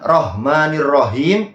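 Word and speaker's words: الرحمن الرحيم: salahnya salah yang sama yaitu tentang hak ya huruf ha makhorijul huruf di dalam huruf ha jadi beliau bacanya bismillahirah roh pakai seakan-akan ha ya jadi salah bukan rahmanirrahim itu kesalahan dua dan kesalahan tiga yang harusnya huruf ha itu makhorjul hurufnya ditenggorokkan wasatul halq ya di tengah tenggorokan itu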